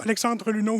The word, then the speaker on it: Alexandre Luneau: So Alexandre Luneau, who's played really well so far. Well pronounced, nice job.